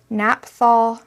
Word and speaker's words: naphthol: m graham this is called naphthal red or maybe it's naphthal n-a-p-h-t-h-o-l why do pigments have to be so difficult to pronounce let's go with naphthol red and this is a